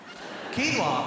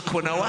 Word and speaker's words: quinoa: Quinoa, very interesting quinoa, because it is spelt one way, but it is pronounced a very different way.